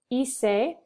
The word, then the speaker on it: hice: So it's hice, hiciste, hizo, hicimos, hicieron. So you don't pronounce the H.